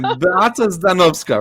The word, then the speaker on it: Beata Zdanowska: one more time, Beata Zdanowska, right?